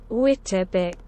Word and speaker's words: Wittabix: Or Wittabix, if that's it, it's pronounced like that. Wittabix.